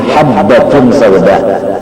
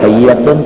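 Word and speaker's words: حبة سوداء: Gara-gara kitab tidak disisih, yang betulnya habbatun sauda, cuma si gagak bagawi menambahi titik sebiji, lalu hayyatun, padahal bacanya habbatun.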